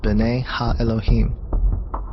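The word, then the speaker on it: בני אלהים: of God mentioned here in the Hebrew is pronounced Bena Elohim the Septuagint which is the Greek translation of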